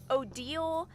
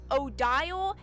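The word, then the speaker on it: Odile: So, how they're canonically pronounced is Seaffron, Marabel, Isabel, Odal, and Bonafos is how all of their names are canonically pronounced. I when I first played through this game, I pronounced all of their names Cifin, Myrabel, Isau, Odial, and Bonnyace. I pronounced all of their names wrong.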